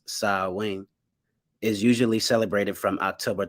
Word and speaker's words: Samhain: tradition in modern times samhain a gallagher word pronounced sa wing is usually celebrated from october 31st to november